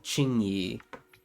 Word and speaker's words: Qingyi: Juan and Chingi. Okay. Okay. So, that's how you pronounce it.